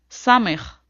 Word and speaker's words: סמך: Next, סמך. this letter sounds like S.